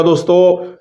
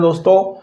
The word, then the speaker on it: the: चलिए अपने टॉपिक को स्टार्ट करते हैं दोस्तों। यूज़ of definite article द। तो देखिए, सबसे पहले हम आपको बताते हैं प्रोनाउंसिएशन के बारे में बताते हैं। इसका प्रोनाउंसिएशन द भी होता है और दी भी